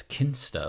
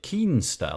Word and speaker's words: Kinsta: wrong because the way I say it is kin stir like ki n keenness but use you're pronouncing it keemstar like ke e n sta why is that